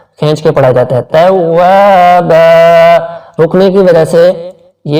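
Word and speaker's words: تَوَّابًا: اس کا اردو تلفظ انہ کان توابا, تا کو باریک پڑھیں گے, توابا. واو کو تھوڑا سا کھینچیں گے کیونکہ الف سے پہلے زبر ہے, الف حرف مدہ ہے, تو الف سے پہلے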